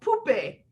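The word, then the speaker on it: poupée: talk about dolls and in french it's called poopy and the kids think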